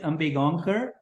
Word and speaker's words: Ambegaonkar: thank you yes and my name is ambe gankar and thank you for having me on this